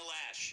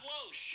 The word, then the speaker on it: Loesch: Still, to this day, still can't pronounce Dana Lash. It's not Loesch.